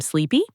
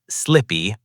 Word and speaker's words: sleepy: Should you say, I'm sleepy? Probably not. You'll need another expression. We'll learn it very soon. Here's a pronunciation tip. Listen carefully. Sleepy. Not slippy, not sleppy. The middle sound is long.